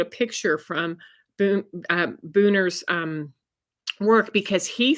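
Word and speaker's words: Buhner: his name Steven Herod booner I think it's how you pronounce it b-u-h-n-e-r and he he's phenomenal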